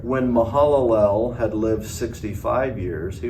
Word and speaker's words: Mahalalel: 70 years he'd fathered meusel LL or you pronounce that uh mahalalel that's it that's right sorry mahalalel uh Kenan